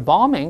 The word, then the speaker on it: bombing: 注意第二个 b 不发音，不要读 bombing 啊，是 bombing 就好了。